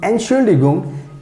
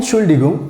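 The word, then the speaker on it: Entschuldigung: use to to describe excuse me excuse me and surely gum and chuligum so that's how you have to pronounce i hope you understand everything and now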